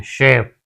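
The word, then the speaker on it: chef: ठीक है, इसे हम सी एच को से पढ़ते हैं, शेफ, chair, charcoal, chemical, शेफ।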